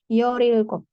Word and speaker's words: 열일곱: R-nya naik ke atas. 열일곱.